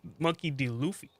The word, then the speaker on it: Monkey D. Luffy: Sorry, Monkey D. Luffy. Is that how you say it? Yeah.